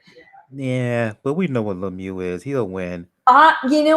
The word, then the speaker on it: Lemieux: Is that how you pronounce it, Lemieux? I've been calling him Lemieux for years. Nah, it's Lemieux.